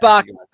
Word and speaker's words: Bach: Bach rhymes with hockey.